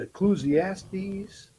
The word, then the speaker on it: Ecclesiastes: Is it Ecclesiastes?